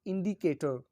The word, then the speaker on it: indicator: In English, one can argue that if one takes the word indicator as an example, the first syllable is the most strongly stressed word. The third syllable is the next most strongly stressed, and the second and fourth syllables are weakly stressed and unstressed accordingly.